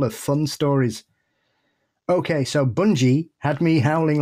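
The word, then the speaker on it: Bungay: Okay, so Bungie had me howling like the black shook itself because it's pronounced bunggeee with a hard G.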